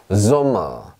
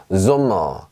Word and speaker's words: Sommer: S라고 말을 하지만 실제로 발음은 S가 아니라 지읒 발음이 납니다. 보세요. Sommer, Sommer 이렇게 합니다.